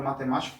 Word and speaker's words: matemática: Vamos falar então a palavra matemática como se estivesse chamando, ó, matemática, matemática. Fica fácil porque está o acento aqui, né? Então se está o acento é ali que está a sílaba tônica, ok? Então nesse caso aqui é o ma que vai ser a nossa sílaba tônica.